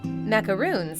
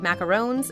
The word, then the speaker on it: macaron: Macaroons are often confused with macarons because some people pronounce the name of the brightly colored macarons as macaroons.